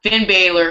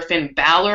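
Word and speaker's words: Finn Bálor: pissed but um yeah Finn Baylor Finn Balor I think it's pronounced he debuted what did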